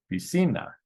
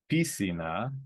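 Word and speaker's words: piscina: then a vowel so the natural stress is on the second to last syllable be seen that and if we try the others it's not pisina on the first eye and it's not PC na on this final a so it's be seen that again it follows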